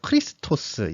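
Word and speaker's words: Χριστός: 이걸요, 읽을 때 크리스토스라고 한대요. 크리스토스. 예, 크리스토스니까 이제 그게 그리스도를 얘기한다고 합니다.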